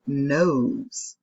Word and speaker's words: nose: Then we have nose, and it has the O, and it has nose, N-O-S. And so the E is silent, it doesn't make a sound, and it has the O that makes the O sound.